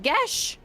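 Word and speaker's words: geas: It's pronounced Gesh. Today I learned.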